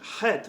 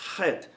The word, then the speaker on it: Het: And even in the pronunciation, het, we have to, it's a guttural letter where we have to put in effort, het. Whereas hey is just breath.